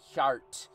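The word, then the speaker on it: ceart: If I ever have a son, I'd name him Cert, Gaelic for honest, pronounced Hjart, but I'd anglicize the pronunciation."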